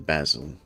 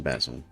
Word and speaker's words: basil: That would that would be good to grow some basil or basil depending on how you wish to pronounce it. I've heard it pronounced both ways. Depending on if you're from England or this United States basically.